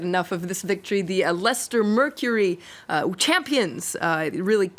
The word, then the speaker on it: Leicester: how to pronounce Lester it's not leester it's a Lester but this says that